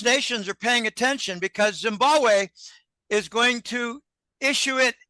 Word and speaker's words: Zimbabwe: phone connection he said Zimbabwe I said where Zambia he said no Zimbabwe the second B in Zimbabwe is silent it's Zimbabwe he believes that Zimbabwe